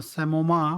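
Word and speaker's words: psammoma: बात करते हैं सेमो सोमा बॉडीज ठीक है पी साइलेंट है सोमा बॉडीज जो होती हैं सेमा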